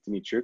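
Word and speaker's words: Dymitruk: since met him and asked him how he pronounces his last name and he said dmitry is how he says it um great that little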